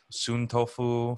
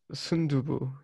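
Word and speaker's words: 순두부: you order, you know, sun tofu for me because I'm vegetarian. Oh man, that just hits the spot. Sundubu. Is that how you say it? Sundubu. Yes, not sun tofu.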